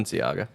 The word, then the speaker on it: Balenciaga: Balenciaga.